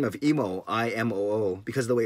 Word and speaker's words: Imoo: the way it's spelled, I get a lot of Emu and Imu, which I get because the way it looks. And actually in Japanese, the double O, you say every syllable, every vowel, so it's actually Imo. So that sounds kind of funny though. It sounds like I don't know how to speak. So I go with Emo, and I'm going to put